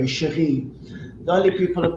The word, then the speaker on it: Cherie: Cherie in France. But here Yes. they call it Cherry or Shirley Yes. or, and it takes a long time trying to make them understand. They always spell it with CH. It's actually Yes. SH, it's CH. Yes. So I Yes. always say it's the French way, chérie.